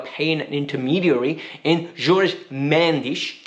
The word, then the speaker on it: Mendes: an intermediary in george mendish did i say it right yes i said it right there you go tasha said it george means portuguese approved